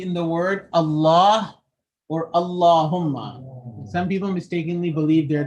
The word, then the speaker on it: Allahumma: So if the lam is in the word Allah or Allahumma and there is a fatha or dhamma before it, then the lam is going to be pronounced heavy.